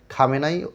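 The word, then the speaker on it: Khamenei: আছে তাই দ্বিতীয় খমিনী অনেকে খামেনি আলাদা খমিনি আলাদা এটা হচ্ছে মূর্খতাপূর্ণ কথা আসল উচ্চারণ ফারস সেটা হচ্ছে খামে নাই এটাকে আমরা কেউ খামেনি বলি কেউ খমিনী বলি কেউ খমিন বলি ঠিক আছে এটা বাংলাতে একজন একরকম উচ্চারণ করি কিন্তু আসলে খামেনাই হচ্ছে আসল উচ্চারণ এবং এখানে প্রথম খামেনাই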